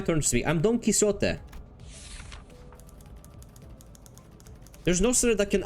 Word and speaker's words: Quixote: It's Quixote. This is Don Quixote. This is my turn to speak. I'm Don Quixote.